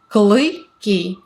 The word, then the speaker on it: клыки: Клыки. Very short. Клыки. Again, this is a sound that doesn't exist in English. It's uy. So it's клыки.